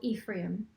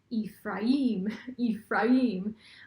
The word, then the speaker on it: Ephraim: Well, the Strong's definition or way of saying Ephraim is Ephraim. And then I've heard Ephraim, and I say Ephraim. Ephraim is called the American way of pronouncing it. If you do that Google pronunciation search, you'll hear Ephraim, and so I choose Ephraim.